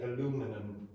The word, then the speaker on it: aluminum: In the United States, they say aluminum. Okay, it's a bit weird, but we do have two different pronunciations.